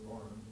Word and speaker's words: Barron: After attending neighborhood school, Smith enrolled in Barn Forks College, spelled Barron but pronounced Barn, in preparation for medical training.